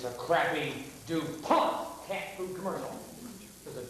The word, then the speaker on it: DuPont: It's not DuPont. It's DuPont. Well, there's a little bit more teeth. DuPont. Less teeth. DuPont. DuPont.